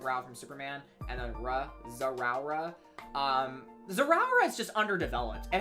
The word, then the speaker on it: Zeraora: I pronounce it as Zeraora because it's Z-Rao, like God of Rao from Superman, and then Zeraora.